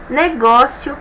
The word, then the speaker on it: negócio: B, negócio, cajá. Vamos lá, negócio, negócio. Penúltima sílaba mais forte, paroxítona, terminada em ditongo, ótimo, é acentuado, mesma regra de espécie.